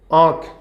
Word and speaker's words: आँख: उदाहरण के तौर पर आँख लिखा, तो यहाँ चंद्र बिंदी का जो है ना, कोई अस्तित्व नहीं है, मगर उच्चारण में प्रयोग किया जा रहा है आँख।